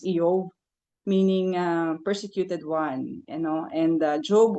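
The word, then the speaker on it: איוב: His name in Hebrew is pronounced as Eov, meaning persecuted one.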